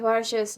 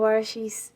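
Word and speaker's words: Borges: Un par de aclaraciones, es Barges, no Barshis. Lo leí como Barshis porque dije English.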